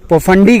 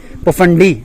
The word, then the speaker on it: Phofandi: हां जी हम लोग अब ठाकरी हिल पहुंच चुके हैं और पोफंडी कहते हैं हम उसको प्रोनाउंस गलत कर रहे थे पोफंडी डी से तो अब हम लोग